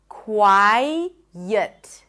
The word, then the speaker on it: quiet: what happens is that you hear an intrusive sound. The transition of the tongue from the i, the front vowel to the neutral vowel, the schwah, gets the tongue to pronounce a y sound. It's called an intrusive sound. Quiet. So thinking about this Y sound as in yes might help you pronounce it better.